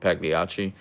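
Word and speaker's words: Pagliacci: chain in in Seattle called Pagliachi. Actually, I don't think you're supposed to pronounce the G, but they put it in there, so I do.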